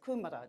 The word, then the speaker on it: Kumara: On my way to Hokitika, went through this beautiful little place called Kumara. Yes, kumara, just like the vegetable. Except, of course, the people say that I said it wrong, it's kumara.